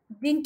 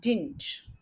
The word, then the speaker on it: didn't: to the market today didn't you go to the market today did plus not short forms correct pronunciation of Chelsea didn't didn't you go to the market today second day is silent when do you go